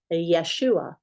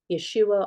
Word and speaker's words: Yeshua: say Jesus they didn't have the J they pronounced it Yeshua Yeshua or Yeshua um for job that just sound again it's